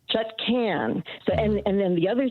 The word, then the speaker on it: Chutkan: The judge, Tanya Chutkan, not Chutkan. Be the first person in media to pronounce her name correctly. I heard her being, at the hearing where she was nominated for judge, and what's his name from the guy that got kicked out? Anyway, there was a hearing, and she introduced herself, and she said, "My name is Chutkan."